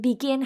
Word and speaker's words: begin: But then begin has two syllables, but the stress one is begin, gin, right?